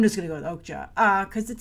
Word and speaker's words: Okja: supposed to be pronounced Okja, because it's like the European J. But either way, Cannes wasn't having it. And the headline is, Okja, I'm just going to go with Okja, because it sounds better to me.